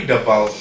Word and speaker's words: debal: Curry debal. That's a history on it. How you pronounce it? Debal. B-E. Debal. Curry debal.